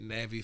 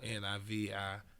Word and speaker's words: Navi: up on Instagram at Navi Finds. That's my name, backwards. So Nivi Finds. So look me up. I said, yeah, I said it wrong, but yeah, that's right.